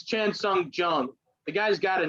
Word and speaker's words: Chan Sung Jung: It's Chan Sung Jung.